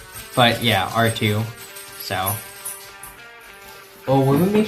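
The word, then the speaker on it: Artoo: Well, it's spelled A R T O O. But yeah, R2.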